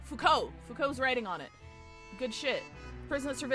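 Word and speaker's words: Foucault: That ponopticon is a reference to uh how do you pronounce his name? Fuko.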